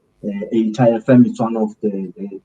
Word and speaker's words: EITA: How do you pronounce it? What is that? EITA.